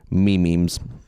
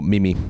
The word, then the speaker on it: memes: Well, it's better than the people that go memes. Memes. Or mimi.